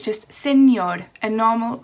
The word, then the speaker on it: señor: So 1 R would be pronounced just how we pronounce the words. For example, the word Mr. is señor.